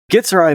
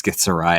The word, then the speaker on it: githzerai: Whereas gith githzerai Do I pronounce that correctly? Githzerai? Githzerai monks build entire monasteries with their minds.